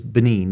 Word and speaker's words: Benin: How do you pronounce that? Is it the country? Well, the country is Benin, the Republic of Benin.